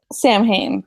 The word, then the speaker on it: Samhain: should we talk about Sam hang Oh Sam fine how do you say that Samhain is how they say it um I think um